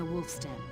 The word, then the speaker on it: Wolfston: Okay, it is with a W sound, Wolfston. I'm never sure how to pronounce names like that. Because you never know if they're gonna do like the German thing where they do it with like a V sound.